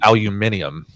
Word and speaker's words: aluminium: Not like like the British pronounce it aluminium.